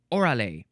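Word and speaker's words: órale: like the words wow gosh um oral would be how you would say it in English but I don't totally trust that that is accurate. Um oh maybe it's oral. This shows an accent on the O oral.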